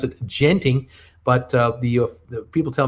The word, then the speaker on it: Genting: for you today a company called genting spelled g-e-n-t-i-n-g i used to pronounce it genting but uh the people tell me officially you say it's genting genting uh owns um it's a company that's